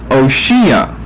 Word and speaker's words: Oshea: Its Old Testament pronunciation is Hoshea. However, here in the KJV, in verse 8 and in verse 16, we have Oshia. The H has been dropped.